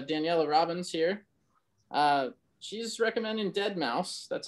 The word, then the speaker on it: deadmau5: brought to uh daniella robbins here she's recommending dead mouse that's how that's pronounced if i'm informed enough uh this is